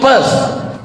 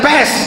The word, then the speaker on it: Perth: I am going to Perth. Bukan pest, kalau pest penyakit.